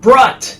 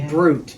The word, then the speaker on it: Brut: Brut. His name's Brut, and it's supposed to be Brute. Right, But but it's they did spell it B-R-U-T.